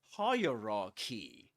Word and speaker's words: hierarchy: The point is that we say hierarchy and the accented syllable is the first one.